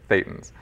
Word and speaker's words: Thetans: And not Thetans, by the way, Thetans. You get the British always mispronouncing that.